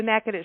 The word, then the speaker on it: Natchitoches: All I know is you got to go to Nack-a-tish.